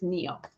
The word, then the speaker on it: Neil: i'm like oh yeah n-i-e-l is how she spells it right and i think i always want to call it feels but it's neil okay i have to